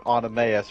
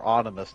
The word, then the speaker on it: Oenomaus: So you have Spartacus himself, two Celts, one of them named Gannicus, the other named Crixus, and one guy named Oenomaus or Onimus, depending on how you pronounce it.